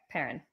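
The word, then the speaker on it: Paran: say his name yeah I said parrot okay parent yeah when you said that I was thinking like p-e-r-r-i-n I got confused but yeah p-a-r-a-n yeah okay um there wasn't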